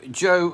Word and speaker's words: yo: Joe leche now yo Joe is because y is like a J in English pronounced like a J in Spanish so it's yo Joe actually is I drink